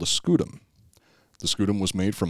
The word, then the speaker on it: scutum: them scoot them again i've heard that pronounced scutum or scutum i'm just i'm just going to go with scudem because i'm just kind of sounds like slang for like butt something right see i i